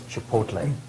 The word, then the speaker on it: chipotle: Chipotle. Chipotle. C-H-I-P-O-T-L-E. Chipotle. Correct? Very good, pronounced well, too.